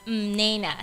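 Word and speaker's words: Mnena: gift of god and it is pronounced nena spelt m-n-e-n-a so that's just those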